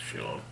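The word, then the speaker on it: Scion: I think it's pronounced Sion.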